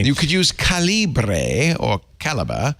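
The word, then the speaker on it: calibre: caliber but since middle school I have always pronounced it in my head as Cali and then I don't remember who it was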